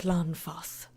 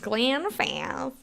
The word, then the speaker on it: Glanfath: I can't say it like Glanfath. It's just Glanfath.